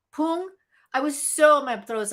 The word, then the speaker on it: Poong: That's what's how you pronounce it. Poong.